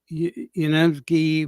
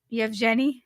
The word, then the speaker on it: Yevgeny: Yevgeny Prigozhin, the leader of the Wagner Group, is alive on an island in Venezuela, according to the Daily Mail.